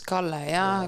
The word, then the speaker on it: Kalle: By Kalla, I think. I think it's Kalle, because... Kalla? Kalle. Kalle. Mm-hmm. What's fish in Estonian? Kala. And how do you pronounce his name? Kalle. So double L.